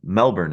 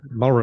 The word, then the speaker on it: Melbourne: Uh Melbourne is how you say that pronounced. You don't pronounce the L. Mel Mel. Hang on. Melbourne. Melbourne.